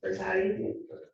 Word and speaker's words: Brintellix: It's Brintellix. It's a really valid question. How do you spell it?